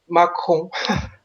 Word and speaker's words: Macron: I don't know how to pronounce it properly. Macron.